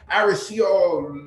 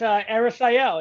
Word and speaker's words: Arisael: Aricio. I just butchered that name. I know. But he's going to forgive me because he was on the waiting list and I'm sure he didn't expect to go. But we got to him. Arisael, did I say it right? Yes, Arisael, yeah, tis I.